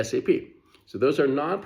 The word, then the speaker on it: SAP: We don't say SAP, right? We say SAP. So those are non-p pronouncable acronyms.